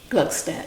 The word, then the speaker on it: Gluckstadt: Is that how you say it? Gluckstadt, yes. Gluckstadt. That's correct.